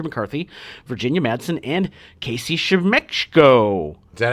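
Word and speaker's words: Siemaszko: debuts of Andrew McCarthy, Virginia Madsen, and Casey Shemechko. Is that how you say his name? Semechko. Yeah. Semachko.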